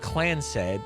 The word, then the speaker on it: Clancid: The Clancid pronounced Clans said Clans said the Clans